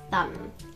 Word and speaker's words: thumb: me in my thumb it's actually thumb silent b and mohammed tuka my